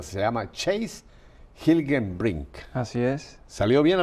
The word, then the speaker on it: Chase Hilgenbrinck: Su nombre no es latino, así que lo voy a pronunciar. Se llama Chase Hilgenbrink.